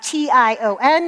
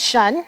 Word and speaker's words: tion: So, they need to just know that every time they see it, it's shun.